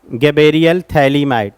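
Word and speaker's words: phthalimide: इस प्रकार से अमाइंडिया थैली माइड नाम सुना होगा आप सबने है ना गेबरियल थैले माइड पी साइलेंट है थलीमा इड अमा आइन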